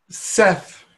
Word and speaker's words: Seth: just under the name Seth was one of them Seth okay through Jane Roberts I think channel self yes it's actually pronounced set said and let's see Anubis